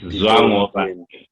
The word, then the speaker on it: Zwangobani: And you teach me how to pronounce it. It's Zwangobani. Zwangobani.